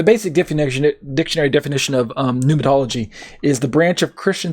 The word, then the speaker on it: pneumatology: when we talk about pneumatology or pneumatology if you don't pronounce the p um give me a